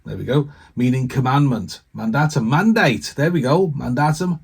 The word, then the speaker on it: mandatum: The word comes from, hang on, let me try and pronounce this now. It's a Latin word. Mandatum, there we go. Meaning commandment. Mandatum, mandate.